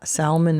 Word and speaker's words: salmon: where the word Sal salmon is from like what's the origin this Latin the L and Sim was never pronounced in English and his presence in